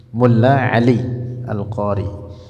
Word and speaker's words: Mulla Ali al-Qari: Asy-Syaikh Ali Mulla Al-Qari. Asy-Syaikh Mulla Ali Al-Qari, begitu bacanya. Mulla Ali Al-Qari.